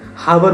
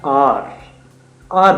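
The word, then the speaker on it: hour: तो उनके लिए बेसिकली हम हार बोलते हैं, हावर बोलते हैं, बच्चे उसको मिस प्रोनाउंस कर जाते हैं। एच ओ यू आर होता है आर बोलते हैं बेसिकली।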